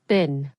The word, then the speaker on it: been: Been is pronounced bin, sounds like bin.